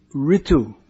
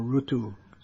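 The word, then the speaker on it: ṛtu: name in the sequence it is ritu or rutu depending on which part of india you're from how it's pronounced oh aha there it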